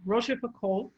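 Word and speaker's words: La Rochefoucauld: russia yeah and it with the french that a-u-l-d depending upon what area in france they're saying it the l is less pronounced so it's rocheforcol and you know you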